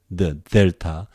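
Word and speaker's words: δέλτα: Delta, the. In English, the delta. If you pronounce like English, D is fine.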